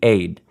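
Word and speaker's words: עד: The word for congregation or assembly here, in Hebrew, the word for witness is the word aid. We might spell it E-D or A-Y-D, aid.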